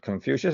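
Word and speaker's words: Confucius: Kung Futio, I'm certainly mispronouncing that, but Confucious is how we say it here.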